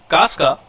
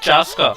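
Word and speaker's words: Chasca: Casca? Achha, it's Chaska. She is pronounced as Chaska.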